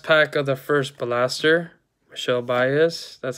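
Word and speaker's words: Michel Báez: And last pack of the first blaster, Michelle Baez.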